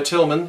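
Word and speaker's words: Tilghman: that I mentioned by Tillman in Oakland DILG hman but the G H is silent so Tillman poster printing company which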